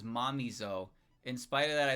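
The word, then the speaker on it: Mamizou: I've always pronounced Mamezo as momo rather than it being pronounced as Mamo.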